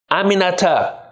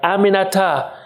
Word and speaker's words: Aminata: while after three tries she got it Aminata four syllables it's really not that hard Aminata I told her she